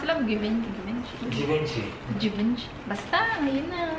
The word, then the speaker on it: Givenchy: Givenchy. Basta, yun na. I think in France, it's Givenchy. Givenchy. But here, Givenchy.